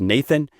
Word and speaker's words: n8n: Uh there is a platform called N8N. It is kind of a workflow automation platform. I've sometimes heard it pronounced Nathan.